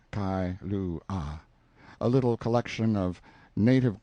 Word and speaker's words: Kailua: We landed at Kailua, pronounced Kai-lu-ah, a little collection of native grass houses reposing under tall cocoanut trees, the sleepiest, quietest, Sundayest-looking place you can imagine.